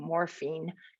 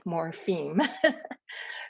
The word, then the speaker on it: morpheme: or morphemic meaning units i'm so conscious of not saying morphine it's morpheme so divisions in words can